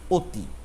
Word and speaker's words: অতি: ওর মত উচ্চারণ হচ্ছে আবার অতি বানানে দেখো দেখুন অ যে ধ্বনিটা এর ধ্বনি উচ্চারণটা ওর মত হয়ে গেছে আমরা উচ্চারণ করছি অতি তরু তরু এই যে